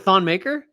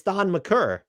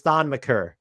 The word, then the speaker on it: Thon Maker: Is it Thon Maker? It is not. It is Thon McCurr. Okay. That was the next clue. That's why I was being an asshole. No one ever pronounced my last name correctly during my time. Really? He said eventually that it was Thon McCurr.